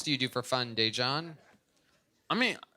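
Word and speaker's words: Daegen: His name is spelled D-A-E, which is day. And then it's G-E-N. I know it's spelled confusing.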